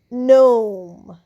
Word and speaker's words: gnome: জি এন এমই নম।